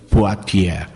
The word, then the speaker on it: Poitiers: Ao mesmo tempo, outro irmão nas Gálias, numa cidade chamada Poitiers, se escreve Poitiers, se pronuncia Poitiers.